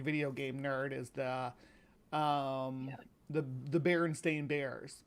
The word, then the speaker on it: Berenstain: game nerd is the Berenstain Bears. People insist that it was spelled like Stein, like Frankenstein, but it's STAI. Yeah, it's spelled like Stain.